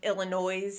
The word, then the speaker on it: Illinois: I even hear people pronounce Illinois here. They say it with the S on the end when it should be silent.